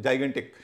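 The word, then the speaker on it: gigantic: जाइगेंटिक, जाइगेंटिक बहुत विशाल, उसमें जी आई, जी ए एन, टी आई सी, पहले जो जी है उसके बाद आई है तो ज उच्चारण हो रहा है, क्योंकि मैंने कहा आई, ई और वाई हो तो ज होगा, ज हो रहा है। लास्ट में जो है गैंटिक, जी के बाद ए है, ग हो रहा है, क्योंकि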